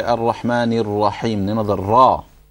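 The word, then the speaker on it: الرحمن: When we say the Rahma, we say it with a full mouth, isn't it? We say Rahma like that. But your mouth taking that shape, it should only happen with the Ra. You shouldn't start with the Hamza.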